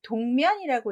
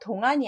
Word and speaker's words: 동면: 자, 이자는 동면이라고 있어요. 동안이 아닙니다. 눈한자랑 좀 비슷하죠? 눈한자는 여기에 한일이 더 들어가야 되는 거 아시지요?